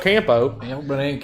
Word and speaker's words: campo: the alma del campo you pronounced that wrong comic book compo yes it's like casa de campo that we used to go to in the dominican republic so yes i but